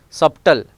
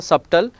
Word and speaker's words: subtle: Subtle is not a subtle, here B silent, the subtle.